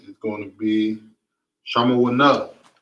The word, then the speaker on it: Shamawana: Number 8 is going to be Shamawana. Shamawana. Okay. Number 8 is Shamawana.